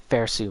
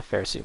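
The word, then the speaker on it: Phersu: might mispronounce it but it was something like fair su mask and that's p h e r s u fair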